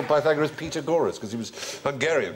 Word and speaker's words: Pythagoras: He said, go, you've got to ask your mathematics teacher, you must do the Pythagoras.